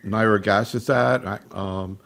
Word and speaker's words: nirogacestat: Maybe we ought to start talking about these new agents, particularly nirogacestat. Actually, I heard you pronounced it differently.